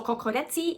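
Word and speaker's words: kokoreç: So here they say kukurec, well, I'm sure I pronounce it wrong. In Turkey, kokorec, here kukurec, in Greece, kokoreci.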